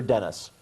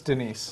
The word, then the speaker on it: Denise: your granny was an ape by creationist blogger Denise O'Leary. Is that Denise or Dennis? It's Denise.